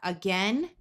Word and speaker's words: again: In both of these words, the ai has the short e sound and the a at the beginning will schwah. So we have again and against.